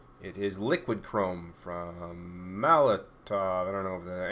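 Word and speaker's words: Molotow: But yeah, it's called the Molotov Chrome Pen. Molotov, T-O-W, but I think it's like a German term, so they call it Molotov because they pronounce their W's as V's.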